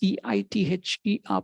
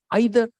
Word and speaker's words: either: They went to the professor, sir, how is E-I-T-H-E-R pronounced? Is it either or either? And the professor announced, it can be pronounced either ways.